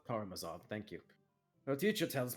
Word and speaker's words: Karamazov: She's reading the Brothers I can't pronounce. Karamazov. Karamazov, thank you.